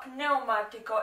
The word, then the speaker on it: pneumatico: More of a layman, but vernacular, but la pneumatico is the tire. La pronounce the P, pneumatico. La pneumatico. La pneumatico. And that's PN.